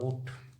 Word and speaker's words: ऊँट: असमिया का उच्चारण लिख के दिखा रहा हूँ ऊट, और हिंदी में हम नाक से, जैसे ऊँट, ऊँट नाक से उच्चारण करेंगे ऊँट।